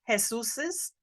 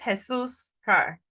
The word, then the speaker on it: Jesus': And sometimes people will try to say Jesus's. This is a little bit tricky in pronunciation. This is Jesus' car.